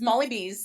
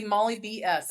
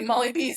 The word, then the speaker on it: Molly B's: So, it's it's pronounced Molly bees just like it'd be apostrophe s, but I didn't want to be Molly Bs. I wanted to be Molly Bez.